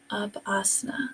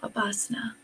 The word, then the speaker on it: Upasana: And it's Upasana. I said it wrong a moment ago. Upasana.